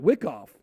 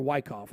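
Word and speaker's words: Wyckoff: and so really we are following the next phase of that wick off exactly or why cough i don't i've heard it pronounced both ways yeah so we're following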